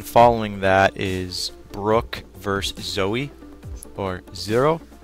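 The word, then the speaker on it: Zeo: that is Brooke verse Zoey or zero Z EO I always pronounce his name a little awkward cuz you want to say zero but there's no Aro at the end but um anyways uh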